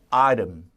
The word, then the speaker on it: item: She is examining an item. 자, examining. 그 다음에 옷을 뭐라고 바꿨어요? item. 그죠? 아이템인데 역시 T 발음을 부드럽게 사포로 이렇게 사포질. 그죠? 이렇게 사포니는 아닙니다.